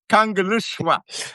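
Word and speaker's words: Kangerlussuaq: If you see L, it makes the sound of like super sloop. So Kangaluswa.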